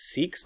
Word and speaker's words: Sikhs: The people who practice Sikhism would be referred to as Sikhs, like S-E-E-K-S is how it's pronounced.